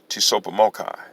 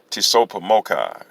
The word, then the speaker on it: Tsopahmocci: the particular title of this humbling effort is pronounced tisopa mocha tisopomochi or t-s-o-p-a-h-m-o-c-c-i again t s o p a